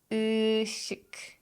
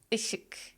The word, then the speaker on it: ışık: So if you know that meme, just focus on that sound. Kısık, kısık, ışık, ışık, mısır, mısır, yazlık, yazlık, kadın, kadın.